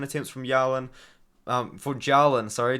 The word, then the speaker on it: Jalen: from yawan um for Jalen sorry not yelling Jalen or Jalen Turner sorry I keep saying his name wrong but Jalen turned I